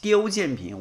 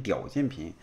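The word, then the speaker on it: 刁建平: 刁建平，我老是念成屌建平，哎呀，何必呢？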